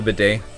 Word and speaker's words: bidet: to like has anyone here ever used a bidet it's spelled but deaths but it's pronounced bidet and